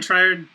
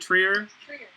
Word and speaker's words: Trier: still Jack Bower larsman Tri Tri doesn't have any idea what he's doing I keep like I don't I know I'm supposed to pronounce it Trier and I did like